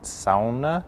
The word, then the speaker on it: sauna: I've been told that you actually pronounce it sauna.